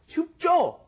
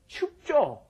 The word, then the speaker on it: 춥죠: Normally when Koreans say it, it's kind of a hard J, as we've explained before. 춥죠. 춥죠.